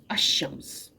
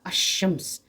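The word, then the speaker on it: الشمس: और लाम बस शमस तो मैं इसको इस तरीके से अदा करूंगी अशम्स यानी कि लाम को जो मैं लाम छुप जाएगा लाम को मैं नहीं पढूंगी।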